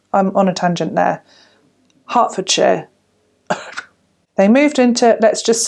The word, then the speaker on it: Hertfordshire: yeah sorry i did it's hertfordshire it's because it's spelled h-e-r-t f o r d s h i r e so ford share is obviously fine although to me that's shire okay hertfordshire hertfordshire it's like out